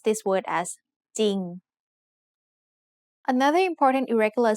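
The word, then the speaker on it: จริง: เ ร ื อ but the ร อ เ ร ื อ is silent. So we pronounce this word as จ ร ิ ง Another important irregular spelling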